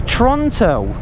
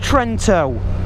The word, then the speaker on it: Trento: It's Toronto. Set navigation to Trento. See if it works. Oh, it is pronounced Trento.